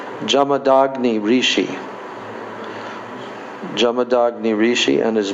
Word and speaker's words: Jamadagni: janma janma or we we didn't know how to pronounce it but actually it's jamama jamad jamadagni Rishi and Ruka now